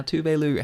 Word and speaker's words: Tove: Now, Tove has made bangers in the past.